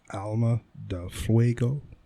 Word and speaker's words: Alma de Fuego: placencia alma de fuego i think you're saying that wrong alma da fuego it is pronounced a-l-m-a alma d-e-l-del f-u-e-g-o fuego huh now is that